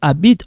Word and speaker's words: habites: This H is silent, okay?